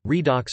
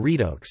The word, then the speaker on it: redox: Redox, short for reduction oxidation reaction, pronunciation redox or redox, is a chemical reaction in which the oxidation states of atoms are changed.